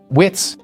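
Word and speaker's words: witz: For example, this glyph is pronounced wits and means mountain.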